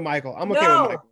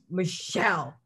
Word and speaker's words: Michel: right just it's actually michelle but i'm okay with michael no michelle michelle yeah i think yeah it's 20 20.